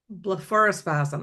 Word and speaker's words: blepharospasm: Well, I'm glad, Blepharospasm.